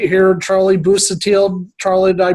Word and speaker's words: Busuttil: Normally, I keep it to the Midwest, but I am with this man right here, Charlie Busuttil. Charlie, did I pronounce that right?